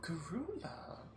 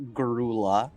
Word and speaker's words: Garul: This is how it's pronounced. It's not Garula. It's just Garul.